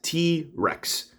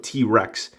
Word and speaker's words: T-Wrecks: target exclusive t-rex and that's rex with a w instead of an r although his name does have an r but it's a silent w yeah english can be